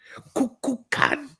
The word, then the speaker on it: Kukulkan: Kukulkan.